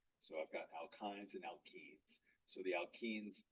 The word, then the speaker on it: alkyne: The triple bond one, we pronounce the Y as if it was an I with a hard E. So it's ine, so alkyne, and then the ENE is alkene.